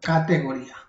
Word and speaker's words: categoría: Categoría, ahí nos la da. Categoría, value, then, aquí en vez de descripción sería, categoría. Categoría, con acento en la I.